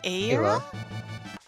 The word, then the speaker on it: Ayla: I think I used to Isla. say Isla, but like in recent times I've heard Ayla more. I have a friend named Ayla, and that's how she pronounces her name, so Oh. that's where I'm getting my basis.